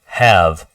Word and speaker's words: have: one memorize it because in this case the E is silent but it doesn't say have it just says have okay have uh we